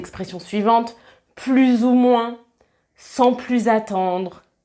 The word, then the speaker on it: plus: Quand plus est utilisé avec un nombre ou qu'il exprime une fraction, une répartition, une part de quelque chose, on ne prononce pas le S.